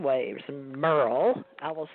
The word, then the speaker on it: Merrell: thank you TJ actually my parents spelled my name like it should be pronounced Meryl but it's Merle like Merle Haggard all right Merle okay